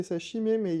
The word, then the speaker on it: Chime: Ça se prononce pas chimé non ça se prononce bien chim en chim.